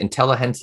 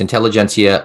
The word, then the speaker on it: Intelligentsia: i say it right is it intelligent or intelligentsia i think intelligentsia it's intelligentsia illumination blend it's like